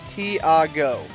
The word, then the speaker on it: Tiago: It's Tiago? Is it not? Oh, okay. Tiago. Kind of like Iago from the old Aladdin movies, but with a T. I'll try to remember that. Thank you very much, Tiago.